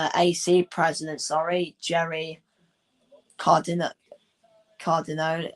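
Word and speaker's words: Cardinale: Cardinol. I can't pronounce his last name. Cardinal. That's it.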